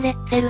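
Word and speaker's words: Letzel: たんだぜ資料によってはヤンレツルと記載されてる場合もあるけどなネイティブな読み方を日本語で表現するのは難しいわよねセルさんは宮島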